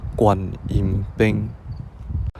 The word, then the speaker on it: Koan-im-peng: in Penang Hokkien, so I will just pronounce it word by word in the Hokkien language, and the pronunciation is Koan-im-peng.